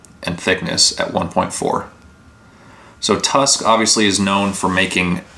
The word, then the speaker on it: Tusq: how i know them tusk is the way they spell it t-u-s-q is kind of i guess like a play on an elephant tusk even on this package